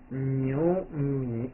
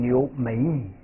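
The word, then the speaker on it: 牛米: 位是米，那牛乘以米就叫念成牛米。牛米，千万别读成牛每米。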